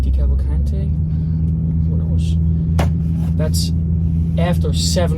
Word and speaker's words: DeCavalcante: Um, and that's after seven members of the Jersey family, let's try and pronounce his name again. Stick with me here. Decavalcante. Decavalcante.